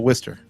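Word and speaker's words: Worcester: so for the record w r c e s t r does not spell Worster that's how it's pronounced wer wor we kick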